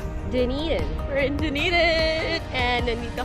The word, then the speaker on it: Dunedin: At paano siya i-pronounce? Dunedin.